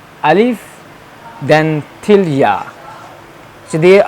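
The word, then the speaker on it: ألف: Okay, Alif, we have to pronounce this while opening our mouth, like Alif.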